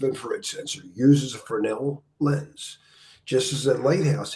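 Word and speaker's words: Fresnel: by jeene Austin Fel the S is silent it is a honey letter if you pronounce it you're not fren and you needed to know that a passive INF forid sensor uses a fernel lens just as the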